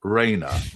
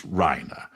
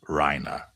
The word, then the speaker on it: Reiner: But I understand that the correct pronunciation so far as the Rhina family is that it's not Raina, it's Rhina. So, I'll use Rhina.